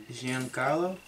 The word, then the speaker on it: Giancarlo: And the Miami Marlins dominant home run king who hit 59 home runs, Stanton, I can't pronounce his first name if anybody wants to try that. Giancarlo?